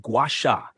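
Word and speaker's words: gua sha: Guasha, pronounced guasha, is an ancient Chinese technique that involves gently scraping the skin with a smooth tool, usually made of jade or rose quartz.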